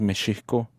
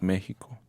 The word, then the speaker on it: México: Pero el nombre como más sencillo, como el ejemplo más perfecto, que es México, que la pronunciación correcta es México, no es México.